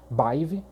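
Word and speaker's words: Badb: Se escreve Badib, mas a pronúncia mais correta ali, mais assertiva é Baive, até onde eu sei.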